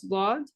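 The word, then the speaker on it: ض: So when you pronounce dad, it touches these teeth right here.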